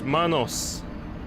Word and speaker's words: Manus: Let's Go that wasn't nice so it's Manos that's his name now I know how you say it because I've been mispronouncing his name so many times the whole